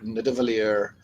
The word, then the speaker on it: Nidavellir: when they speak about Midgard or Asgard or Nidavellir. That's pretty much the pronunciation there.